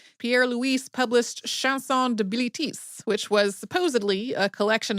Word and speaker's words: Bilitis: Then in 1895, Pierre Louu published Shansson de Bilitis, which was supposedly a collection of newly discovered poems written by one of Safo's female students who was named in the French pronunciation Bilitis.